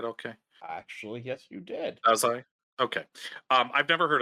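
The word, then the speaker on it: Dazai: Japanese Au named Osamu daai uh did I pronounce that right okay actually yes you did daai okay um I've never heard of this guy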